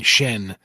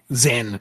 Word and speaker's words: Xen: And it was also really jarring going from the comparatively grounded HalfLife to to all the stuff on Shen Xen, whatever, Zen, however it's pronounced. It's Zen in the first game.